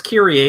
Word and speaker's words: Kyrie: But um, it's Kyrie. It's based on Kyrie Eleison, as you would expect.